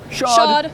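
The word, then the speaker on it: SH-AWD: And when you say that phonetically, it's shod.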